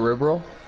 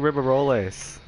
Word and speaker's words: Ribeyrolles: the ri roll yeah wait how you say it RI roll that's how you say it I don't yeah that's how a lot of I've been saying River rolles it's a it's French just just on French r